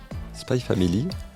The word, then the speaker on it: Spy x Family: pinée de bon sentiment spy family on ne prononce pas le X entre les deux mots est un gros succès